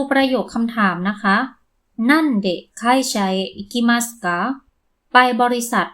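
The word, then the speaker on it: 何で: สงสัย ใช่ มั้ย คะ ถ้า ตาม หลัก การ จะ อ่าน ว่า นัน เมื่อ พยัญชนะ ตัว แรก ของ คำ ที่ ตาม มา ข้าง หลัง ตัว อักษร คันจิ ตัว นี้ นะ คะ เป็น พยัญชนะ ใน วรรค ทะ นะ เวลา ถาม ว่า ไป โดย อะไร เรา จะ ใช้ คำ ช่วย เดะ ใช่ มั้ย คะ ซึ่ง เดะ อยู่ ใน วรรค ดะ ก็ เลย อ่าน ว่า นั่น เดะ แต่ พอ ถาม ว่า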